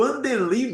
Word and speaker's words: Wandeli: É o Andeli mesmo seu nome, né?